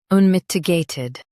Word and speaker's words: unmitigated: unmitigated Now, read the syllables shown on the screen naturally. un mit i gay tid unmitigated Stress mit and keep i light.